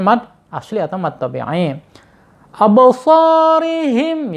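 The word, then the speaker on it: أَبْصَارِهِمْ: Absarihim ya, roknya dibaca tarqiq ya karena berharokat kasrah.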